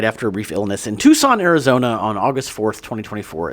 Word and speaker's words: Tucson: Uh sadly, he died after a brief illness in Tucson, Arizona, on August 4th, 2024, at the age of 85. That's so sad. It's pronounced Tucson.